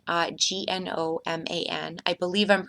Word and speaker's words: gnomon: is actually called a gnomon, Gnoman. I believe I'm pronouncing it correctly, though, again, with my humorous side, it doesn't work unless the G is silent and it's pronounced that way.